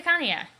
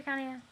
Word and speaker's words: Kanaya: Do you really have to insist on pronouncing them the way Hussey wanted them to? I was saying Kanaya before I read the way he did it, so I'm sticking with Kanaya.